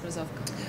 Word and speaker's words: Rozovka: of this year in Rozovka? Is that how you pronounce it? Yes, Rozovka. Where a guy filmed an